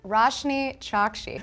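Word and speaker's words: Roshani Chokshi: you pronounce your name it's pronounced pronounced it's pronounced roshni shocked she okay rush me Chuck she yes you go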